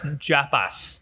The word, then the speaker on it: Japas: is that from well japas feels like trappists even though without a t it's it's japas japas japas oh um